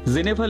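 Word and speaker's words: Genève: depressing বলে মনে হয় জেনেভাল একে বোর্ড রাইটিং করতে এসে জানতে পারলাম স্থানীয় লোকেরা একে বলে জেনেভ জেনেভ প্রথমে তো ভাবলাম এ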